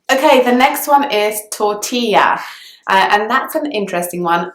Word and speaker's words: tortilla: something inside it so that double L is actually pronounced as it should be in Spanish it makes the sound ye so tortilla instead of totila but then the next